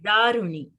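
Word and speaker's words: दारूणि: In this case, we are pronouncing Ru in a long way. Daruni. Daruni.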